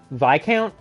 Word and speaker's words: Viscount: know how it's pronounced so it's VI count okay it's silent letters always get me because I always